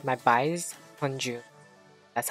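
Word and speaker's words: Hongjoong: Like what I said, my bias Hunju.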